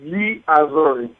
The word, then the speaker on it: Gli Azzurri: It's hard to pronounce it as Gli Azzurri. Okay, Gli Azzurri.